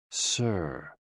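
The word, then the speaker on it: 呬: SI, pronounced like sir, with a slow exhale, which is associated with the lungs.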